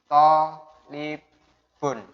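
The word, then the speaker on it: طالب: Tolibun. Ini bacanya tolibun. Toknya panjang karena ketambahan alif.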